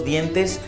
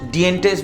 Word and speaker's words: dientes: आपको वर्ड पता है, अगर आप सपोज लोस दिएंटेस नहीं जानते, लोस डिएंटेस बोलेंगे तो शायद सामने वाला नहीं समझ पाए।